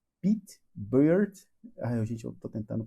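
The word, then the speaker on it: Pete Beard: O nome dele é Pete Bird. Gente, eu tô tentando pronunciar o melhor que eu posso, mas é como se fosse Pete Barba.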